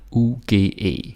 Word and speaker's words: uge: But in Danish, the G, when it comes like this, when it's spelled like this, you want to assume that it's this sort of sound, like W, suge, fuge, uge.